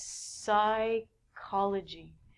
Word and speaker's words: psychology: next one these are words that we do not say the p the first one is a really long word it means psychology anytime you see the